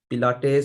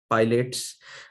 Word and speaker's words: Pilates: to the next part this is a pilates or mispronounced often as pilots but if you see